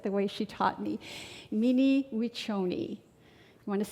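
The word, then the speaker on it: Mni wiconi: And I will try to pronounce it the way she taught me. Mini wonyi. You want to say it with me? Minimi wonyi.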